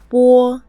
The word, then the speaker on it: 波: 波波 When you look at this letter, you may be familiar with it, but in Chinese pinyin, it pronounces bo.